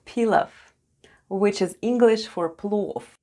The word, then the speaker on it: плов: You probably already know a delicious Eastern dish called pilaf, which is English for plov. In plov, v at the end is pronounced as f.